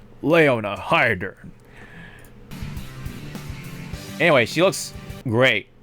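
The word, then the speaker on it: Leona Heidern: The Japanese pronunciation. You gotta say it fast too, like Leona Hydern. Like there's no like space between like Leona Hydern.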